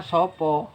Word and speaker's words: sapa: kalau tulisannya di sana kan S A A Sapa kan? Sapa. Bacanya Sopo.